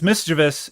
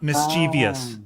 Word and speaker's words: mischievous: egregious word that people mispronounce and also put letters in is mischievous. It's mischievous. It's not mischievous.